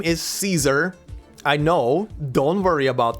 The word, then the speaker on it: Caesar: Am I gonna say her name Caesar, or am I gonna go the Latin way and say it Caesar? And I went the Latin way. So if you see me, or rather you hear me say that her name as Caesar, that's because I'm using the Latin pronunciation for the name.